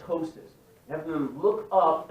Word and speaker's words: ptosis: We call it ptosis. Right, the P is silent.